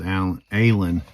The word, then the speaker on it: Alan: My second name is Alan. It's actually Alan. A-L-A-N. That's how it's pronounced.